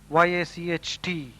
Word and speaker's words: yacht: Yacht is pronounced as yacht.